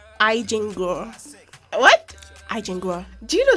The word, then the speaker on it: Eigengrau: it's spelled EIGENGRAU. Okay.